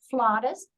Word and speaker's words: flautist: it Claire is an international flutist Flawless is how you pronounce it in England who has taken her